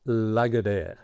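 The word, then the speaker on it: Lagardère: The the proper name is Lagadair. How to spell that?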